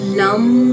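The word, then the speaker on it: लं: ल और उसके ऊपर है बिंदी। इसका उच्चारण किया जाता है लम।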